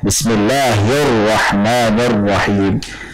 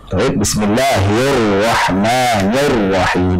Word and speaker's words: Bismillahirrahmanirrahim: Ro bertasydid itu dihukumi sebagai harokatnya. Misalkan Bismillahirrahmanirrahim. Ro-nya bertasydid, sebelumnya kasrah. Oh berarti tipis. Sehingga bacanya Bismillahirrahmanirrahim. Bukan seperti itu. Jadi bukan diuraikan ro sukun dulu sebelumnya kasrah berarti tipis, kemudian ro fathah ro berarti tebal. Bukan seperti itu. Tapi langsung dihukumi sebagai harokatnya.